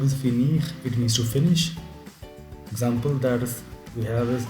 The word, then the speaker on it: finis: Another important thing that you have to keep in mind is you you don't pronounce the last s with je je finis, tu finis, il finit.